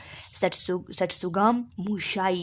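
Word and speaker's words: tsutsugamushi: और इसकी जो काजेटिव एजेंट इसकी जो है वो ओरिएंटिया सट्सुगाम मूशी वो एजेंट का नाम है। ओरिएंटिया सट्सुगाम मूशाई या मूशी जो भी आप कह ले, आप प्रोनाउंस कर ले, तो ये उसकी काजेटिव एजेंट है।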